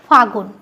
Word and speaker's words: ফাল্গুন: এ গ এ হস উদন্তন্য ফাল্গুন এটা আমরা যদি তো দেখো এই যে ফাল্গুন এই শব্দটা এখন আমরা উচ্চারণ করি ফাগুন গান আছে না ফাগুনেরই মোহনা তো দেখো ওখানে আমরা কি উচ্চারণ করছি ফাগুন এখন কিন্তু আমরা অনেকেই উচ্চারণ করে থাকি ফাগুন তাইতো তো দেখো শব্দটা কি ছিল ফাল্গুন যেটাকে আমরা উচ্চারণ করছি ফাগুন তো এই যে শব্দটা ছিল ফাল্গুন তাকে আমরা উচ্চারণ করছি ফাগুন এখানে দেখো ল টা এখানে কিন্তু লোভ পেয়েছে তো যেহেতু শব্দের মাঝে